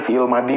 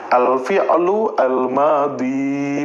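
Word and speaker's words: الفعل الماضي: Selama ini mungkin teman-teman ada yang belum tahu pengejaan yang tepat gitu kan. Tahunya fi'il madi, fi'il madi aja gitu ya. Nah, pengejaan yang tepat seperti ini ya. Alfi'lu almadi panjang.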